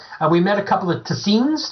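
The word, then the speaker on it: Tseens: met a couple of tazins that's how I pronounce it t-s-e-e-n-s they're aliens that look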